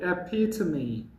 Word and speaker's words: epitome: What is the pronunciation of epitome? It's very simple. Epitome. What is its spelling? E-P-I-T-O-M-E. Its pronunciation is epitome.